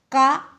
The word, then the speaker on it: calf: There is no sound for letter L. L के लिए यहाँ पर कोई भी साउंड नहीं है, लेकिन L यहाँ है. इसका मतलब ये है कि L यहाँ साइलेंट है, L यहाँ silent है.